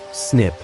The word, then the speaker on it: SNP: SNP stands for single nucleotide polymorphism pronounced SNIP which identifies specific variations at particular locations across the genome.